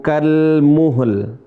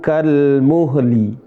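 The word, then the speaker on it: كَالْمُهْل: Yauma takunus sama'u kal muhl. Di sini ada kasrah. Sering teman-teman bacanya yauma takunus sama'u kal muhli. Bukan kal muhli.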